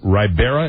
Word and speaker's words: Ribera: Reached by telephone at his ranch near Ribera. Is that the way you pronounce that? Ribera, New Mexico? Ribera, yes.